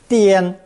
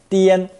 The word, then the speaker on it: 颠: This combination is pronounced first tone, 颠, 颠, and means the top of the head.